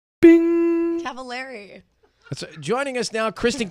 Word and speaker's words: Cavallari: Italian, it's Cavallari. Well, then I'm saying it correctly. Well, then you have to put an accent on it. Cavallari.